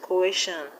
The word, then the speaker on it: coercion: We have suspicion, suspicion, and in the word coercion, the stress will be on the second syllable from the end. The word coercion has three syllables: coercion, coercion. So the stress will be on air.